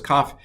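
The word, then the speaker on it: כ: Well, I have it here because kaf is not only a Begad Kafat letter, it can take the dagesh or not take the dagesh, and I'm going to pronounce them both the same. Ka.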